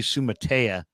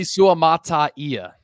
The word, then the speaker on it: Suamataia: it butchering it I've been calling him Kingsley Sumaya Kingsley suamataia suamataia okay there you go I'm I'm 95%